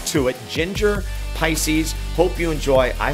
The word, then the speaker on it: Jinjer: excuse me called Pisces and it's by Jin Ginger is spelled j-i-n-j-e-r now if I knew anything about